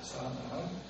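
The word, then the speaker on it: צאנן: 사아난. 제 보면은 그 히브리 원어로 자아난이라고 이렇게 발음이 되어지는데 유사한 발음이 있습니다.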